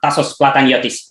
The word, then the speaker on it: Tasos Plataniotis: we have a very very special guest one tassos plataniotis from within progress from thessaloniki greece thank you